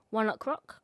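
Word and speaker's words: ONE OK ROCK: It's spelled as the word one, okay, then rock, but they say it as One Rock because it's a play on words of 1 o'clock.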